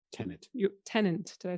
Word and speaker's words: Tenet: And that was both from the podcast about Tenant. Tenet.